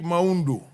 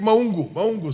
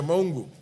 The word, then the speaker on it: Maungu: The Honorable Dick Maundu. Dick. Honorable Dick Maungu, sorry. That is a correct pronunciation. Yeah, Maungu.